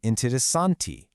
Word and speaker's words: interessante: That rigid pronunciation softens up right at the end to become interessante.